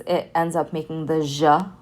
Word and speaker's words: ج: speaking world you are formal it will always be pronounced ja like a harsh j sound okay now the next